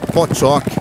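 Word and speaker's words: Pottok: No sopé dos Pireneus, onde as montanhas majestosas descem a pastagens verdejantes, o cavalo Potoc, pronunciado Pchock, ainda vive tranquilamente na natureza.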